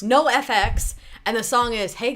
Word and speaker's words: NOFX: do you pronounce this it's no FX no FX and the song is